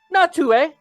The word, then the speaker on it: Natu: People might not know this, but it's actually pronounced Natue.